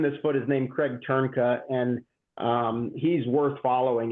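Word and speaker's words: Trnka: guy that trimmed this foot is named Craig turna and um he's worth following if you do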